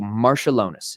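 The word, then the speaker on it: Marčiulionis: So Marshallonis is how I've been told to pronounce it.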